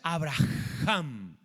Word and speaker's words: Abraham: fonética dice porque fíjate Cómo se pronuncia el nuevo nombre que es Abraham si lo estiramos es Abraham es una H aspirada tiene que ver con